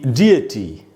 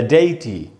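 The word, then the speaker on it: deity: ये दोस्तों, फॉर all nouns and pronounce indicating the डिएटी या डेइटी। ये डिएटी या डेइटी, इसके दो उच्चारण हैं और इसका मीनिंग होता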